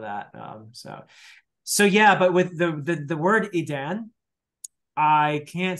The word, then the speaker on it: Edan: I was a bit surprised when I heard you pronounce it the first time, because I would have pronounced it more like Eden than Edan.